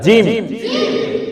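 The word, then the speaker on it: جيم: জিম না জিম, একটু শক্ত করে জিম।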